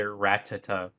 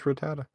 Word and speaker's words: Rattata: I've heard people say Ratata instead of Ratata. Yeah, I would say Ratatata. That's funny. Yeah, it's just Rattata.